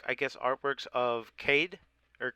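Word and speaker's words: Kaeya: They are different, like I guess, artworks of Cade, or how do you say his name, Cade? Kaya.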